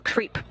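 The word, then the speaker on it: KREEP: have a weird component that we call creep. And it's spelled K-R-E-E-P, and it stands for potassium, rare earth elements, and phosphor.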